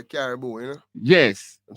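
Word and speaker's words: Karibu: Oh yeah, them say Caribou, you know? Yes. Them say Caribou when they say welcome in Kenya. In Kenya, them say Caribou.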